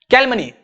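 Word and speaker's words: calumny: तो आगे बढ़ते हैं कैल मनी कैल मनी इसे पढ़ते है कैल मनी मेरे साथ पढो क्या पढ़ते है कैल मनी जो य होता है वो साइलेंट होता है कैल मनी सी ए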